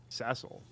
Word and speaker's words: Cecil: like yeah that's CLE she turn she like cesil I'm like yeah yeah cesil he's the protagonist of Final Fantasy 4 and an incel and he's like you know that name you know that name's pronounced Cecil right and then then it became just an